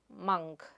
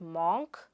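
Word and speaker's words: monk: The next word is Mah-nk. It is not moonk, its Mah-nk.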